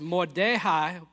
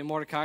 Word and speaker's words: Mordecai: Mordecai, which is actually pronounced Mordehai, but again, it's easier to say Mordecai because that's what we say, is going to be